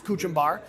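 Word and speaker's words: kachumber: This is called kuchumbar. We call it Indian pico de gallo, but it's pronounced as kuchumbar.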